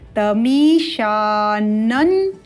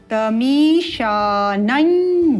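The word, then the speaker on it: तमीशानं: जग तस ध्यान देंगे एक पंचम वर्ण है न दूसरा पंचम वर्ण है ञ दोनों के उच्चारण में भेद है एक उच्चारण है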